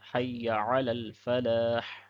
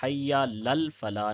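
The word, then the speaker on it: حي على الفلاح: اگلے کلمات آتے ہیں حی علی الفلاح، تو اس میں بھی یا کو لمبا نہیں کرنا ہے اور عین کو بھی پڑھنا ہے، حی لل فلاح نہیں کہنا ہے۔ اوپر والے میں بعض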